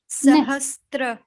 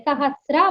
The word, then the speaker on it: सहस्र: सहस्त्र नहीं, त्र नहीं बोलना चाहिए, सहस्रा बोलना चाहिए, स पे केवल र है, त नहीं है, सहस्रा, सहस्र, सहस्रा, सहस्र, हाँ, ओके, अस्तु।